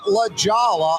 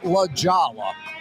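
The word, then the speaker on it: La Jolla: now he's back in La Jala I think it's pronounced lajawa Corey Johnson back at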